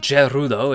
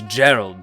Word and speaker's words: Gerald: son and it's not gerudo it's gerald gerudo is simply the japanese pronunciation of gerald and yes i know